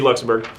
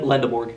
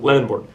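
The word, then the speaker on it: Lendeborg: It would be Luxembourg. Yep. Did I pronounce that right? Yeah. Uh Lindborg. Lend Lendorg.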